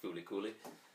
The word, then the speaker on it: Fooly Cooly: comparison between the two um so yeah uh fully cooling or you know as it kind of looks like flcl i actually thought it was called flc for quite some years but yeah it's actually pronounced fully cooling um now fully cooling is probably one of